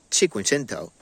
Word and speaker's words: Cinquecento: of course the 500 but in italian it's chikungento it has 13 inch